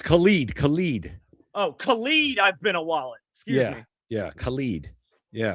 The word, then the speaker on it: ibn al-Walid: It's weird how it's spelled. It's Khalid, and then it's IBNAL-WALID. Yeah, I've been a wallet. I've been a wallet. I think I'm saying that right.